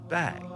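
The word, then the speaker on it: bague: is spelled b a qu u e it's pronounced bag I had no idea so when Jean cren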